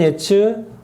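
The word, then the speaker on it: עץ: 이렇게 따지는 거예요 어 나무는 예츠 견은 뭐 츠 그래서 그런 운율을 살려서 그들에게 하니까 이거 있는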